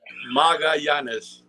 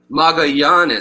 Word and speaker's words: Magallanes: Magallanes. Magallanes.